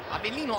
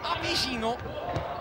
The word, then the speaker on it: Avecino: chiamato in più salse Avellino, Avellino, Avecino, e Avecino è la pronuncia poi corretta, mentre Onorio va via, la palla esce dal campo. Dicevamo, è la pronuncia di Avecino, è proprio quella latina, quella argentina. Avellino è molto più spagnolo.